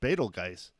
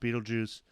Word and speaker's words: Betelgeuse: it and and said beetle guys uh but it is pronounced beetlejuice um it's not spelled like the movie beetlejuice but what is it